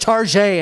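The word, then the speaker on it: Target: others are like foreign it's pronounced Tarjay and Elvish um uh you first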